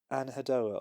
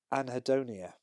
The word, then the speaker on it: anhedonia: So it's specific musical anhedoa or anadoa. Sorry, I got that completely wrong. Anhedonia.